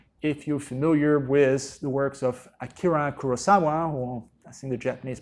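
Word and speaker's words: 黒澤明: if you are familiar with the works of Akira Kurosawa (or in the Japanese pronunciation, closer to Akira Kurosawa on something like that).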